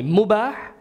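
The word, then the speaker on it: mubah: recommended number three is you can call this one MOBA everybody repeat after me mu bar if you want to spell it mu B aah MOBA mu bar now MOBA means permissible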